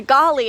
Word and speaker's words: Galley: So it is a galley, but it is pronounced the golly after the Golly family, who left their trust